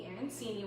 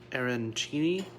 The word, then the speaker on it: arancini: Arancini? Oh, is that right? Catherine was saying that you do it with a CH sound.